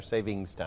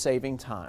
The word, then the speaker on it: saving time: of course you say saving time or savings time it is no s it it's just saving time I'm I've been saying